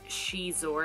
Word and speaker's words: Xizor: power of the Jedi so this is Prince she's or and so the way it's spelled makes you wonder how to pronounce it